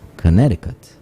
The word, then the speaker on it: Connecticut: connecticut in quotes connecticut isn't it the sea that is silent no it's connecticut ah yes yes yes yes yes you're correct that's right it's the second c that's right caller see